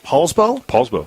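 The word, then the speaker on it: Poulsbo: So you grew up in, is it pronounced Paulsbo? Paulsbo, Washington.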